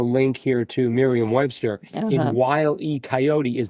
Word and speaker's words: Wile E. Coyote: Wile E. Coyote. Wile E. Coyote. You got to get that pause in there, I think.